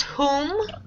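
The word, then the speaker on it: Hum: It's pronounced like H-O-O-M.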